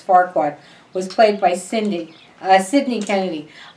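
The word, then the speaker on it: Farquaad: Lord Farquhar, I always say the guy's name wrong. I want to say Fauntleroy, and it's Farquhar, was played by Sydney Kennedy.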